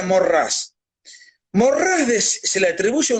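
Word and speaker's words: Maurras: no es muy conocido se llama char charles maurrás para quien no quiera interesarse se pronuncia morrás morrales se le atribuye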